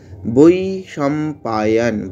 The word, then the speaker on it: वैशम्पायन: वैशम्पायन, বইটাকে দীর্ঘ করব, তারপরে সাম, বৈশম্পা, পাটাকে দীর্ঘ করব, পায়না ইয়ানা, উয়াচ উয়াচ, বটাকে আমরা এখানে ব উচ্চারণটাকে ওয়া, উয়াচ এইভাবে উচ্চারণ করব।